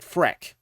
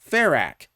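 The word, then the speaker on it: Ferak: He pronounces it Ferrak, which is how I've always pronounced it.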